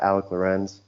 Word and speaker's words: Alik Lorenz: instagram so that's at alec lorenz so just like it's spelled on here a-l-i-k-l-o-r-e-n-z um so you